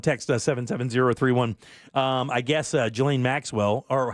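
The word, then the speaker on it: Ghislaine: Um I guess Jelene Maxwell or how was it? How's it pronounced? Glane. Gla.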